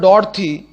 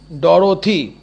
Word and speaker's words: Dorothy: along with his sister Dorothy, উচ্চারণটা করবো আমরা ডরথি, বাট যখন বানানটা লিখবো, স্পেলিংটা যখন আমরা লিখবো তখন লিখবো DOROTHY, ডরথি, নইলে আমাদের বানানটা কিন্তু ভুল হয়ে যাবে লেখার সময়।